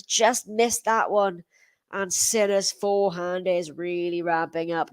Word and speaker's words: Sinner: that one long janik sinner so it is thirty-oh that's all we're not from said yeah it's uh it's pretty good that is his name does rhyme with winner ah james black i